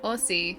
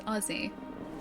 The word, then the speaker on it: Aussie: Yeah, it's like Texas tweet said Aussie, not Aussie. It's Aussie.